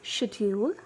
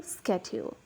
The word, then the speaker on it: schedule: The first word for today is schedule. So when you want to pronounce it in British English, you'll pronounce it as schedule. However, if you want to pronounce the word in American accent, it turns into schedule.